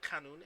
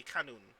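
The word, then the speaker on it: qanun: familiar with what a canon is a what a canon it's spelled q-a-n-u-n as as far as wikipedia tells me uh yes yes yes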